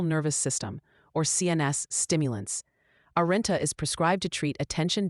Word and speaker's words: Arynta: Arenta, pronounced Arenta, is the brand name for Lisdexampetamine dimesate, an oral solution taken once daily in the morning.